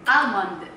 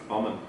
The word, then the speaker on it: almond: So, you still pronounce the L, but not that...